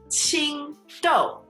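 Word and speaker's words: 青豆: 青豆.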